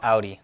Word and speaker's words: Audi: I sit here and smile and look say Audi Audi there you go Audi there we go you said it right okay